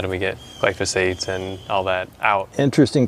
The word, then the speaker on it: glyphosate: So if you don't mind, I wanted to ask you about, okay, so you talked about glyphosates.